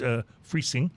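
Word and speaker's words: Freising: And this brewery is from Friesing, Germany, and it's Friesing.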